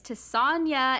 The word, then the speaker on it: Tessonja: pronounce it um but it's tasanya and it rhymes with lasagna and yes i was